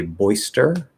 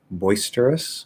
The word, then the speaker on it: boisterous: t into a ch so you can say boyster boisterous boisterous that would be like maybe a fully enunciated way or you can say boisterous boisterous um i personally prefer